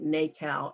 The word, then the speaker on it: NACAL: the program was okay we pronounce the acronym nacao n-a-c-a-l that means navy artist